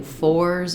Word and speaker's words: fours: be a little bit shorter when I say fors it's going to be a little bit longer